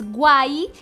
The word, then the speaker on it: guay: Decir que algo es guay, que se escribe con G, U, A, Y, né?